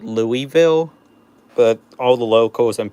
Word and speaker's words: Louisville: Also, the locals all pronounce Louisville as Louisville. Most people pronounce it Louisville, but all the locals and people around pronounce it Louisville.